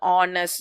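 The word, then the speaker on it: honest: அடுத்து வந்து ஆனஸ்ட். ஸோ இப்போ இந்த ஹெச்ன்றது வவல் லெட்டரே கிடையாது, ஆனால் ப்ரொனவுன்ஸ் பண்ணும்போது ஹானஸ்ட் அப்படின்னு வருதுன்னா ஹா அப்படின்னு வரனால அங்கே வந்து ஆன்னு வருது.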